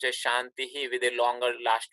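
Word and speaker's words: शान्तिः: so in this case because of the accent the pronunciation is changed becomes a little longer in classical Sanskrit which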